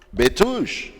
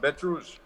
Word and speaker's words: Bet Rouge: It's actually from patois or French. Bet Rouge, red beast. That's right. Pronounced Bet Rouge.